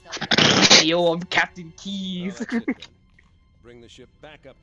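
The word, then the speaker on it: Keyes: Do you even know how to pronounce his name, David? What? Oh no, yeah, no, it's Keys.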